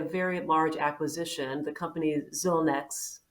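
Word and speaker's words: Xilinx: acquisition the company zilnex i'm saying that correctly so maybe talk a little bit about how that fed into your strategy how that continues to help you be competitive uh in this in this marketplace yeah absolutely and uh mary i'm going to correct you a little bit it's not zy links but i understand it's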